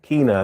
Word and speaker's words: Kina: Keena is spelled Kina.